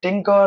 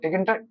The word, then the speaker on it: Tkinter: So Python provide Tkinter module, someone known as Tinker, someone says like Tkinter. It's all about the pronunciation.